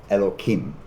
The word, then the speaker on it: Elokim: There's a Hebrew phrase, B'Tselem Elokim, which is one way, Elokim is one way of saying God without pronouncing it in its most divine usage.